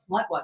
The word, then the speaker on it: patois: Yeah, the spelling for it is kind of not the same way it sound like how it's spelled. Cause it's spelled Patious. You know what I mean? It's spelling, but the pronunciation is Patois. Putwa.